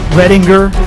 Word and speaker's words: Redinger: Readinger. Oh my god, you did it.